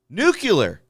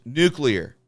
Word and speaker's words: nuclear: Nuclear. And no, I did not say it like George Bush. Nuclear. That's what I said, not nuclear.